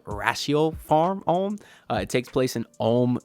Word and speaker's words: Ratiopharm Ulm: It looks like it's spelled Ratio Farm, but I do believe now that it's called Ratio Farm Ulm.